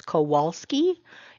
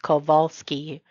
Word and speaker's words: Kowalski: letters V and W there is no letter V in the Polish alphabet instead the letter V sound is made with a letter W so whereas we might